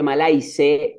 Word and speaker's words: malaise: anécdota de que malais se escribe malaise en inglés la palabra malaise pero se pronuncia malais significa angustia enfermedad y